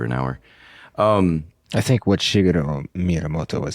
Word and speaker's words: Shigeru Miyamoto: I think what Shigeru Miyamoto was saying, is that how you say it?